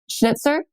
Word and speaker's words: Schnitzer: The Schnitzer.